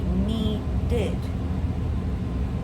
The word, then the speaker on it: needed: So when the verb ends in a d or t sound or the actual letter, that's when we have the it sound. Like I said, need. What sound do we hear at the end? Need d sound. So then we say needed. How about want? We have a t sound. wanted. Then we add the itid to that word.